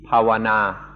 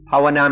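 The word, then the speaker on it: bhāvanā: it pronounced yesterday bana one is a western pronunciation one a Thai pronunciation pawana pawana means development as was explained yesterday is concentration.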